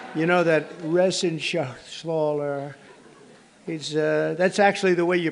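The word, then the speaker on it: Reschenthaler: And Guy Resenshaw. You know that Resenshaw. That's actually the way you pronounce it, you know.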